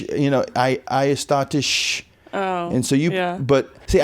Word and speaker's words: Aegisdottir: It's Aegisdottir. I think I've been doing pretty good. I might put too much of an H at the end of it, like shh. Aegisdottir.